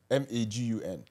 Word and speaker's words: Magun: Have you heard of the concept called Magun? M-A-G-U-N. Pronounce it, sir.